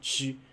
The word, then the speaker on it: ち: So it's ta, chi, chi, chi, chi, chi, chi. So it's like ch, e, ch, e. So it's not t, but rather chi.